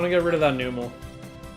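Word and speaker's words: Numel: I know most people pronounce it Nummel, but that's stupid. There's no B in there. If it was Nummel, it would have to be either a B in there or two M's, so...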